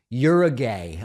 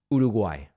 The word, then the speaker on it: Uruguay: of the flavor is Americans pronounce Uruguay in what seem like absurd ways you're a gay I found I mean